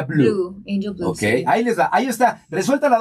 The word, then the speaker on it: Bleu: escribe pleu pero se pronuncia Blue Ok ahí está resuelta la duda para todos